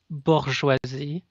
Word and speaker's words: bourgeoisie: I just wanted to tell you it's pronounced bourgeoisie, as in the sentence, the bourgeoisie will pay when the working folk will rise.